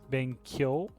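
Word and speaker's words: benkyō: Benkyo. Oh yeah, it's yo, isn't it? Yeah. Ben Kyo. And then it would just have a long U sound, right? Because of the. No, it's elongated O, remember?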